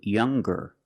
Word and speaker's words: younger: When we change these adjectives with eer or with est, we're going to pronounce the g sound, the hard g. So, it's younger with a g sound.